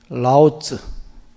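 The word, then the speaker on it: 老子: 자, 노자님 중국 발음이 라오즈. 라오즈. 자가 라오즈. 아까 여기가 라후 내지는 라마 다 이렇게 불러요.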